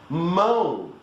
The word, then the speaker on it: mão: Mão. What is that? That is mound. You know, like a mound of rancid butter. Mound. Without the ND is mão.